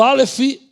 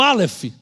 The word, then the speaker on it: alef: A letra Alef, ela se escreve, mas não tem som, tá? Ela assume o som da letra posterior, a vogal que vai ser posta nela.